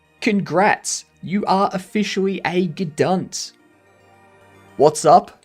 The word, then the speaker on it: Gedunt: You are officially a Gedunt.